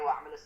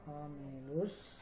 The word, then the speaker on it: وعملوا: Tinggal jangan dipanjangkan ya Pak. Tidak boleh dipanjangkan. Wa'amilu pendek dibacanya. Amilus. Oke. وعملوا الصالحات. Masih pendek aja Pak, jangan dibaca panjang.